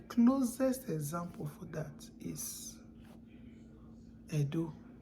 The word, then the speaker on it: Ędo: The letter E that has diacritic is pronounced as E. Yeah, it's pronounced as E. And the closest example for that is Edo. Edo, which is spelled as E-T-O.